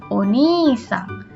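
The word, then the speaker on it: お兄さん: Tapi kalau untuk keluarga orang lain berubah menjadi oni-sang. Ingat ada i lagi, berarti dibacanya panjang ya.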